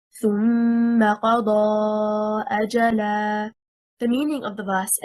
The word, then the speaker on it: أَجَلًا: The correct stress is on the first حركة, حركة الهمزة. If we say أَجَلًا, stressing on the second حركة, حركة الجيم, we separated the word into two.